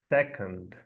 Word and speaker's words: second: I know it writes with O. It is spells with O, but we're not going to pronounce sec as most Brazilians would imagine reading the word. We're going to use again the sound uh and we're going to say we're going to pronounce second.